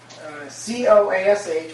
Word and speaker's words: Coash: But if you look at the back of the program and how my name is spelled, C-O-A-S-H, which is pronounced Coash, right?